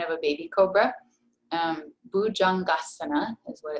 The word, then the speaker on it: Bhujangasana: a baby cobra um bujangasana is what it's called this is a common mispronunciation as well there is no ja sound in sanskrit so it's not bhujangdasana it's a heart jay